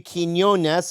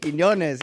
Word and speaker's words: Quiñones: Now we've got Frankie Quiñones here. Woo! I said it right? Right. Quiñones, Yeah, Quiñones.